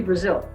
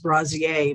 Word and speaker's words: Braziel: i'm here with brazil did i say that correctly you did just like the country i have an extra vowel but it's pronounced exactly the same it's an interesting name